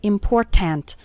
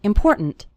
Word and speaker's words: important: The word more kind of runs into the word important, and the last syllable of important kind of gets reduced. We don't say important. We say important.